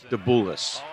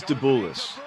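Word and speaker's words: Dabulas: second half i think the most mispronounced name in the league this year so far has been mike the bullis it is dabulis let's go to the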